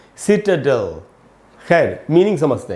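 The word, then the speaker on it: citadel: इसको भी सिटाडेल नहीं पढ़ना चाहिए, इसका शुद्ध उच्चारण है सिटाडेल।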